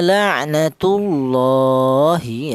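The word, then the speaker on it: لعنة الله: Tafhim itu artinya tebal, yaitu cara baca lafal Allah ini atau lam jalal ini ditebalkan. La'natullahi seperti itu. Tidak boleh lafal Allah ini dibaca tarkik atau tipis, tidak boleh. Seperti contoh la'natullahi, tidak boleh.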